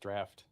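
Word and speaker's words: draught: drought draft drought draft that's pronounced draft it's like a draft of beer really yeah interesting guo's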